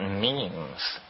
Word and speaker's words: meme: last year about about means you know what means are means are the smallest units of a concept and they're like genes the word is deliberately constructed to rhyme with gene and so when I